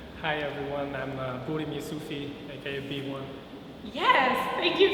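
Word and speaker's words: Burim Jusufi: to tell me your name hi everyone I'm buim yui AKA B1 yes thank you for being here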